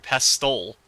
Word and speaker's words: pestle: It's a silent T in pestle? I've been saying mortar and pestle this whole time.